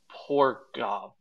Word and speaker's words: Pograb: It's Pograb. Okay, because he spells it P-O-G-R-A-B, so it's poor Gob. Okay, so maybe I'm I think dyslexic. Pograb. No, I think I might be just Pograb.